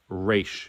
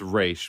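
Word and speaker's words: Ra's: who is an expert in this language is pronounced re not Raz that was just something for the movie because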